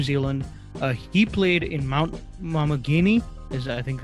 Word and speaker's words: Maunganui: is in New Zealand, he played in Mount Maunganui, is I think how you pronounce Mount that? Maunganui. Maunganui, sorry, Mount Maunganui.